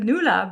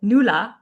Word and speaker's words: Nulla: And I love the way you said Noola, because that's a question we get all the time. How do we pronounce that? So, you got it. Noola. And you can go at home and try it. Noola Noola.